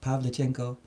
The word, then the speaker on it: Pavlichenko: the agenda actually I first learning how to pronounce her name Pavlichenko yeah but related to that subject here's a